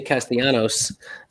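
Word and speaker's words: Castellanos: castellano stay castianos uh would like his two l's to be pronounced the right way but uh his mom won't allow it his mom called major league baseball and says you better not pronounce the double l oh some high cheese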